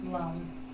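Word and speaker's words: Lam: Once you secure that red glow, you are welcome to recite the Root Chakra mantra, which is pronounced lum, with the same scale as the singing bowl.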